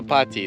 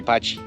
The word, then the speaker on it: Patti: In Brazil, nobody calls her potty. They don't The double T is patch. So they say Patti.